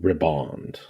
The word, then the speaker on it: riband: Okay, so the pronunciation I just heard from Merriam-Webster, everyone's favorite lady, Merriam-Webster, is pronounced just like the word ribbon, but just with the D pronounced on the end of it.